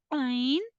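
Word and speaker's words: ع: Then the next letter is Ain, Ha, Ain, Ha will pronounce from center of your throat. You can explain that Ain and Ha both are empty. Ain don't have any dot while Ha don't have any dot.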